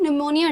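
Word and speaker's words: pneumonia: Question 12, which among the following organ in the human body is most affected by द निमोनिया disease. P यहाँ silent होता है।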